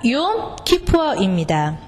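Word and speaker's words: יום כיפור: 사람들이 발음하실 때 염 트루아라고 하시는데 욤입니다. 욤 트루아. 마찬가지로 속죄일도 염이 아니라 욤 키푸어입니다.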